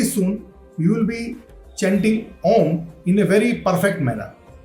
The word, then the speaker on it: Om: you will be chanting Om in a very perfect manner. Start like this. Always remember 33% 33% O and 33% M. When the time will come, when the pronunciation will be absolute Om, and that Om sound